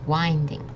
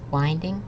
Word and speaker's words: winding: And Leilu, can you pronounce this first word, please? Winding. Okay, good try. So it's winding. Okay. I know there's no E here, but it's winding.